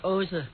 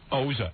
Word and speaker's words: Oza: And my name is Oza. Oza. And And after the ozone layer in the sky or something.